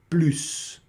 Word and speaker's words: plus: Ou se você também quiser plus, tá certo? Plus. Em muitos momentos nós vamos pronunciar sim o s, tá certo?